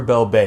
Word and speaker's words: Belbe: But now getting back into Belbe, and I think it's pronounced Belbe, but you know, I call her Bel-bae because I just love her so much, and it is just such an exciting card.